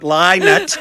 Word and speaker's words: Lynott: Kathryn Thomas, but I'm not playing Philip Lynott.